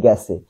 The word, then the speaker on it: গেছে: গেছে, এটা হবে গ্যাসে, গেছে উচ্চারণ হবে কি গ্যাসে, গেছেই সঠিক লিখবো কিন্তু উচ্চারণ করলাম গ্যাসে, তাই বলবো।